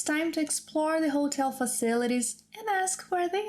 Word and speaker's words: hotel: Different from English, the letter H, H, is not pronounced when it's at the beginning of a word.